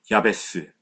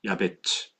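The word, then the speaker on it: יעבץ: 야베스. 원래의 발음은요. 야베츠입니다. 야베츠. 야베체라는 히브리 이름을 한글로 번역하면서 야베스라고 해 버린 거예요. 가톨릭 성경에는 야베츠라고 원어 발음에 가깝게 기록되어 있습니다.이 이름의 뜻이 중요하겠지요?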